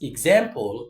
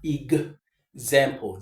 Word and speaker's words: example: Most of the time, I mean, sorry, in this case, we pronounce this X as giz.